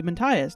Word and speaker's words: Matthias: I always knew if I had a boy, his name would be Matthias. Not joking, pronounced like our mouse boy.